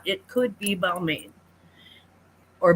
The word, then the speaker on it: Balmain: tags, make sure it's not, it could be Balmain or Balmain if you're fancy, which is how they pronounce it, but I am not.